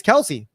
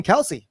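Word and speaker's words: Kelce: been happening to travis kelsey and his brother you do not pronounce his last name kelsey right it's just kels kels kels which makes sense phonetically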